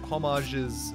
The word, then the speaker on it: homage: what you're talking about it's a French word is it not homage homage I think that's